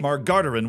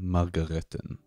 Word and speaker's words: Margareten: She got in touch with the president of the group, Rabbi Moshe Margardaran, which I am absolutely sure I did not say right. This is how you say it. Moshe Margareten.